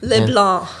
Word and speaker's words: Le Blanc: Le Blanc. That's my maiden name. Le Blanc. Le Blanc. Ooh, you just drop the NC.